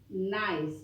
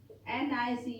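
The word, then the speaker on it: gneiss: e i s s nice you have to pronounce this as nice nice nice g and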